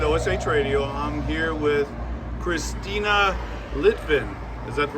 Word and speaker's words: Cristina Litvin: John carrots with OS radio I'm here with Christina litvin is that the right way to say it